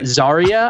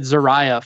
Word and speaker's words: Zaria: want to pronounce them Zaria I said xariah for the longest time I do what I